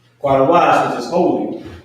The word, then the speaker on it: Qadash: Qadash, right? Qadash, which is holy.